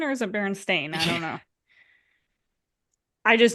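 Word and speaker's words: Berenstain: do you pronounced your last name is it Baron Stein or is it Baron stain I don't know I just know it is Baron stain but I think I like oh I remember it barenstein so I'm like oh like it sucks that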